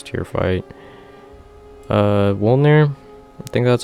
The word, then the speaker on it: Wolnir: Wolnir, I think that's how you say it. Wolnir.